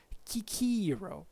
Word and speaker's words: Cicero: And according to this guy, it's actually the actual pronunciation should have been something like Kikiro, right? While it's Cicero, right? In classical pronunciation, as far as we know.